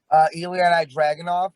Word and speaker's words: Ilya Dragunov: Ilya Dragunov, is that how you say it?